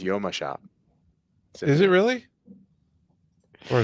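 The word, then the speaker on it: Jomashop: And Symphony says, here I've been referring to Yoma Shop the whole time. No, the correct pronunciation is Yoma Shop.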